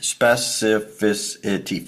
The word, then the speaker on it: specificity: Specificity. 5 syllables, Mark.